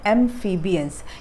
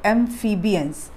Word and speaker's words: amphibians: amphibians इसका ऐसा sound आता है, amphibians. ठीक है? ये F जो है, PHI जो है, वो F का साउंड देता है.